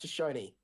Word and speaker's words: Shoshone: what also once again that's how Eli mispronounced it it's pronounced Shoshone anyway oh yes why